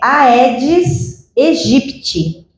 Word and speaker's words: Aedes aegypti: Então, eu já ouvi a edit, ed egipt, ed egit. E aí eu falei, gente, falei, né? Tá difícil, qual que é a pronúncia correta? Então eu fui pesquisar, achei um professor de entomologia que eh disponibilizou um artigo de dois pesquisadores que a pronúncia correta é Aedes Egipti, tá?